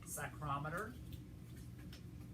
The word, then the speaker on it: psychrometer: Psychrometer. Starts with a P, but sounds like an S. Psychrometer, because the P is silent.